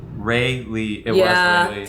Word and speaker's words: Rayleigh: Ray Lee.